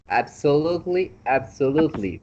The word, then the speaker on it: absolutely: It was absolutely great, Absolutely. Remember, absolutely on that word, just forget about the E. Just just pronounce the T L Y. Absolutely.